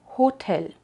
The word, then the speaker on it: Hotel: otra vez te acuerdo que al inicio de palabras de verdad suena Incluso en palabras que en español pronunciamos sin la H Así que hotel en alemán es hotel hotel seguimos con los sonidos